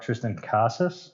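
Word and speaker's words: Triston Casas: a couple other guys red sox called up tristan casas i believe is how you say his name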